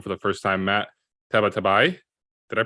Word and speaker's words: Tabatabai: and we welcome for the first time Matt tabatabai did I pronounce that correctly you did that was pretty